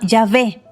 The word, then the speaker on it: Yahvé: Algunos comentaristas dirán que no hay sonido W o UE en hebreo y que se pronuncia Yahvé.